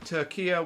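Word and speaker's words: Türkiye: And I was worried whether I upset him or not because for some reason that um UK social media is using Turia, which is the more traditional pronunciation of Turkey, then we are Turkey now.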